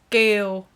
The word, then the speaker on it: Kiều: Kiều. Gail. Kiều. Think about like so it's the K. Kieu. Kale. Yeah, but don't pronounce the K. Pronounce it's just Kiều.